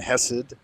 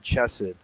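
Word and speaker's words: Chesed: and he he said chokema and chess, but I think that ch is actually just an h in Hebrew. And so I've always heard it pronounced uh keter, hmma, bina, and hessid, but I guess you could say it chess as well because it is written ch in English.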